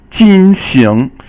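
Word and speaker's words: 进行: Okay, the next character that we have here is 进行. 进行 is fourth tone and second tone, and it means to carry on with something, and then, or to do something.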